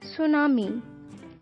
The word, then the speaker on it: tsunami: in english and urdu tsunami t is silent magma magma tufan